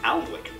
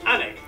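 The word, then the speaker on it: Alnwick: before finishing up in aldwick anik which is near Newcastle or as the people in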